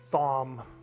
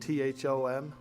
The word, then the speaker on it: Thom: Thom. We got to get our revenge on this Thom. You ever met a guy named Tom that spells it T-H-O-M?